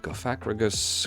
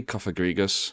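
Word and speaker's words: Cofagrigus: And Gacrigus crosstoff. You know, I just realized it's probably Kofagrigus. I think I've heard people pronounce it like that before. That's probably the the correct one.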